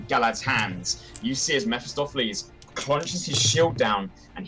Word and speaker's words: Mephistopheles: And then I'm gonna hit Mephistopheles. All right. Proud of myself for pronouncing that correctly.